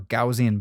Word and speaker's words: Gaussian: I'm going to grab what's called a Gaussian blur or Gaussian blur I believe is how it's actually pronounced.